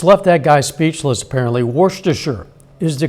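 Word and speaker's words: Worcester: hard it just left that guy speechless apparently warer is the correct pronunciation that sauce was invented in the English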